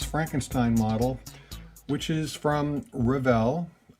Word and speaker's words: Revell: model which is from revell i pronounce it revel i i have people pronounce it different ways but i go with revel always have originally put out by